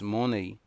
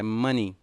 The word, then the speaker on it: money: Então, a partir de hoje, não diga mais essas duas pronúncias, money, é money. money, ok?